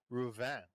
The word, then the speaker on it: Ruben: So, so it would be pronounced Ruben. Sure. The B would be a V if it's Hebrew.